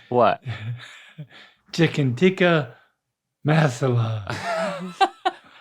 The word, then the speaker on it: masala: Chicken tikka masala. What do you say when you go in a hot tub? So just say that. You say that sound in the middle.